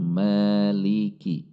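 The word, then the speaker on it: مالك: Namun menurut riwayah Asim ini dibaca 2 harokat, yaitu maliki.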